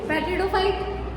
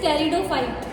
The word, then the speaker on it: pteridophyte: यशवर्धन पढ़ता है पेट्रिडोफाइट, इट इज टेरिडोफाइट, इट इज नॉट अ पेट्रिडोफाइट। ठीक है, पी इज साइलेंट ओवर है।